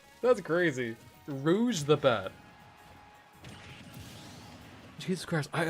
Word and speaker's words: Rouge: Rouge. Rouge. Rouge the bat. Rouge. Go. Is that how you pronounce it? Rouge. What the hell? I always thought I was rogue.